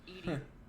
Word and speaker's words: EDI: Why are you named Edie? EDI is the phonetic pronunciation of ED.